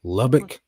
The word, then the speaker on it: Lubbock: bad but it's in Lubbock how do you pronounce that lobach Lubbock I know that I had uh pretty good